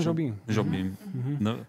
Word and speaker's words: Jobim: Jobima द्वारा मानकों… तो यह सही ढंग से उच्चारण किया जाता है "imobim?" जी हां, टॉम जोबिम।